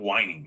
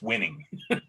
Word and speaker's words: winning: I mean, I'm surprised you don't say whining. It's spelled phonetically. Yeah, well. There's no H. It's not whining. It's winning. The H is implied.